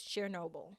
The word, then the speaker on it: Chernobyl: People theorize that he was part of the cleanup crew for, I'm going to mispronounce this, Chernobyl. You pronounce it correctly.